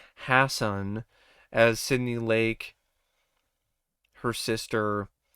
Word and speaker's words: Hasson: kind of like uh maddie hansen uh i'm sorry i i think i butchered her last name there yeah it's maddie hassan as sydney lake her